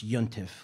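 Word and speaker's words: יום־טובֿ: to the tools could be any holy day pronounce yontiff literally a good day or verse or renaming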